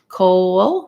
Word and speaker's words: coal: the l excuse me coal we go back to the rounded sound so we have our o and then our glide coal coal and finally heel that's